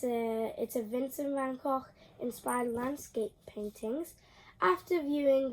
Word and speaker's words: Vincent van Gogh: well, how you say it in Holland is Vincent van Gogh.